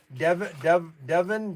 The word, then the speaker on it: Devin: Devin? Yeah. You can call me Devlin, though. I like that. Devin, D-E-V-I-N.